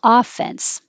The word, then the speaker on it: offense: No offense, but you're going to be offended. No offense. The vowel is like head. And it can also be with stress on the first syllable, offense.